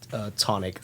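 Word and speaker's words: Chthonic: Tonic. So the CH, I think, is just silent.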